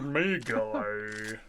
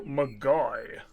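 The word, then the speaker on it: Ogre Magi: May guy? Yeah, that's that's how Americans would say it, wouldn't it? They'd say it wrong. Yeah, they have a tendency to do that. They just do. To a lot of words. Ogre Magai. That's how it is. It's MacGuy.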